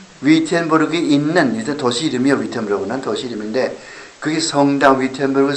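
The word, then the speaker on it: Wittenberg: 독일 사람들은 V자처럼 이렇게 발음한다고. W를.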